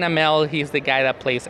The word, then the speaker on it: Amell: I don't know, Stephen Mao. Stephen Mao? Yeah, so I thought of an Asian person by the way he pronounced it. But yeah, it was Stephen Amell.